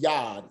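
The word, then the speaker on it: יד: pronounced after for example you have yod comments dalit is pronounced yad so it's letting you know that you would take the y sound from the consonant yo along with the vowel sound of the uh the comments which is i and then the dialect which will give you yad that's closed syllable yad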